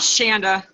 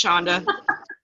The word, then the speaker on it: Shonda: It's still not Shanda. It's Shonda. Easy. Shonda. I told you hard. So Like, hard to learn. think of it like it was spelled with an SH.